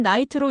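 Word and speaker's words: knight: 영어는요. 나이트는 나이트로 읽히지만 K는 묵음입니다.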